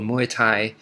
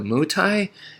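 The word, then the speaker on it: Muay Thai: muai and um yeah I I hear a lot of people call it mutai and uh it's muai is is I I believe it's closer to the actual pronunciation if I'm not mistaken um so anyway so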